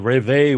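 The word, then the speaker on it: Réveil: looks like reveal but it's french so i believe that you don't pronounce the l and that's just simply revival so there was there the revere was a movement in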